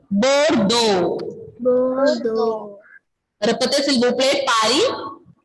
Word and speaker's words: Bordeaux: Then the next city, fourth one is Bordeaux. Bordeaux. X is not pronouncing here. Bordeaux.